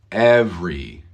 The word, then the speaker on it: every: right here thank you we are not pronouncing the second e every every every word every